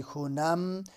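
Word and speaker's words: خوانم: در آنجا درس می خونم، یہ خانم ہے لکھا ہوا لیکن اس کا تلفظ ایرانین خونم کرتے ہیں، تو در اونجا درس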